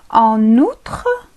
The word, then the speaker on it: en outre: نقوم بالربط بين الكلمتين la liaison. نسميها بالفرنسية la liaison الربط. إذن تصبح En outre, en outre.